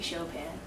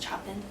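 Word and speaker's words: Chopin: Um, I would love to meet Shopan. I just want to know what was going on with that guy. I think it's pronounced chopping.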